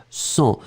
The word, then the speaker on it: sens: pronom me je me sens souvenez-vous le verbe sentir quand on le conjugue je sens s e n s hein il y a un S mais on ne le prononce pas ensuite de pouvoirs hein